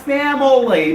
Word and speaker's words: family: The word family has got 2 syllables.